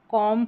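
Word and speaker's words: comb: अब यहां पर एम बी का कॉम्बिनेशन रहेगा। कॉम पढ़ेंगे। कॉम यहां कॉम व नहीं पढ़ेंगे क्योंकि लास्ट में ये जो बी है ना ये साइलेंट रहेगा।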